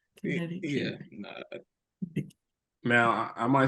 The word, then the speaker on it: Connecticut: Where did this where did the C come from? Connect. Yeah, I had to think of it like connect, but you don't say it like you don't pronounce it. You don't say connect. It's Connecticut.